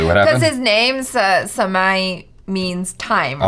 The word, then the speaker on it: Samay: Right, but the joke is, we're mispronouncing your name, Samay. Obviously, it's Samai, right?